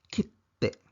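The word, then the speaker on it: きって: Ibig sabihin ng maliit na tsu ay ang letrang T dodoblehin sa pagbigkas, kitte.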